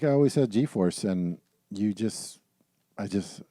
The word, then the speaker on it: G-force: I always had a g-force and you just I just you know it's one of these things were RCEs oh yeah I guess I must pronounce a GE force but it is G force okay glad we cleared